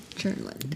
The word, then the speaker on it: Churnland: So, but I learned that first day, pronounce it like churning butter, churnland. Yeah, right.